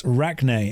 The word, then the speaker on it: Rachni: It's Rachne, as in like arachnid.